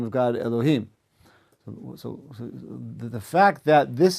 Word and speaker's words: Elohim: You're familiar with the kind of custom to, rather than pronounce God's name Elohim, we say Elokim, in order to avoid saying God's name unnecessarily.